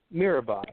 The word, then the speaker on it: Mirabai: make sure I say it correctly o meerabai Mira bye okay okay and and you do uh is